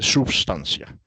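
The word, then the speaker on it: substantia: Cuando es latín se dice sustancia, ¿no es cierto? La t se pronuncia como c de substancia.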